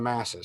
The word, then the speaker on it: masses: when you follow the masses sometimes the m is silent i want you to